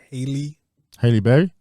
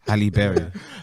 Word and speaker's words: Halle Berry: self in the animation to a black woman, Hailey Berry. What? Hailey Berry. Hailey Berry. Don't know why. Bailey. Hailey Bailey. Hailey Bailey. It's quite a hard name to Halle pronounce. Berry. Halle Berry.